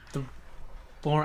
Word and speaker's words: Bourne: born I was born I always heard of called born like the e is silent no look I forgot